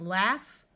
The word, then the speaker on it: laugh: In these words, AU, rather than having its normal sound of ah, will have a short A sound. So we have laugh, laughing, and laughable. Notice we can add suffixes